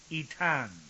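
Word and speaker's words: Aetna: laid him below Mount itan that's spelled with a AE t n but the a apparently is uh silent now we find this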